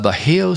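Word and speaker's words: Bajio: one off no uh a big surprise uh beo sunglasses that's spelled b a j i o beo sunglasses uh by Roa Roca one uh so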